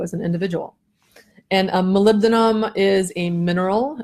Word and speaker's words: molybdenum: an individual and a molybdenum is a mineral it's called Molly beat'em as another way to pronounce it or just MOU I like MOU it's a lot simpler but molybdenum is a